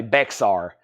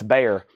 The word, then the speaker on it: Bexar: that's so to George Shar thank you it's pronounced bear why is there an X and that's a